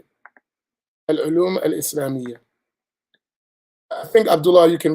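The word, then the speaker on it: العلوم الإسلامية: Al-ulum al-Islamiyya.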